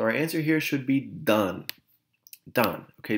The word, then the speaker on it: dan: answer here should be done done okay be careful this is not pronounced Dan Dan is a man's name done means they give